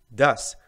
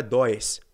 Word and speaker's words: does: vamos lá pronúncia do das não é dor e não é dois beleza porque geralmente quando